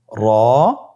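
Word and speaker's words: ر: 2টি হরফের নাম হলো র এবং জা। র এবং জা। র হরফটি এখানে আমরা পোর করে উচ্চারণ করব, মোটা করে উচ্চারণ করব, এবং র হরফটি একালিফ টেনে পড়ব।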